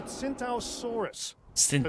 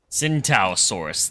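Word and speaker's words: Tsintaosaurus: It's called a cintaossaurus. T is silent like the centalaurus. Gotcha. What? And it has a mohawk. At least that's what I'd call it. Cintasaurus.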